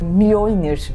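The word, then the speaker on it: Mjölnir: Bunu nasıl telaffuz edildiğini bilmiyorum. Eminim siz gayet iyi biliyorsunuzdur. Mjolnir diye tahmin ediyorum.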